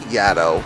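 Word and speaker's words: Yaddo: said Yad instead of Yad yep well a lot of people say Yad it's it it seems like the natural but it's actually supposed to rhyme with Shadow because the uh the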